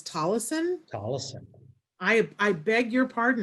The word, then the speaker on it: Tolleson: wrong all these years i've been saying tolson but it's tollison i i beg your